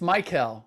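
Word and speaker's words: Mikel: Now what is it? It's Michael. It's not like Mikal Bridges. It's Michael. Michael.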